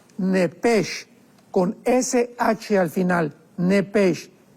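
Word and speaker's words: נֶפֶשׁ: con SH al final, nepesh. En el hebreo se pronuncia la SH con J, entonces la pronunciación hebrea es nepej.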